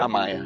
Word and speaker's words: Amaya: How you pronounce your last name? Amaya? Amaya.